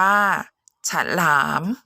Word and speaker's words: ฉลาม: อ่าน ว่า ขนม อ่ะ แต่ ฉลาม อ่าน ว่า ฉัน หลาม สนุก อ่าน ว่า สนุก